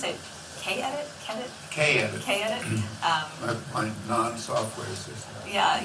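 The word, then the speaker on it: Kedit: And do you pronounce it K-edit? K-edit.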